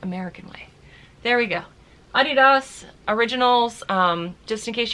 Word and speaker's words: Adidas: traditionally Adidas is pronounced Adidas because it's named after the founder Adolf dassler who was nicknamed ADI so it's Adidas there you go both